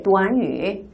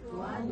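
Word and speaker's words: 短语: 근데이 구가 한국어로는 구지만 중국어로는 구가 아니라 도안위라고 읽힙니다. 다음께 도안위. 도안위. 한 번 더위. 도안위.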